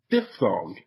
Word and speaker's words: diphthong: Diphthong. It's spelled D-I-P-H-T-H-O-N-G.